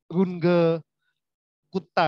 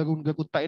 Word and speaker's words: Runge-Kutta: hal ini ada metode runge-kutta ya saya ikut yang paling saja ya dari Ajeng Man Hai namanya ya nama Jerman sehingga dibacanya itu adalah Google Kuta ya Nah itu adalah